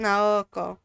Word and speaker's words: Naoko: Or Naoko? Naoko. We're gonna pronounce it Naoko.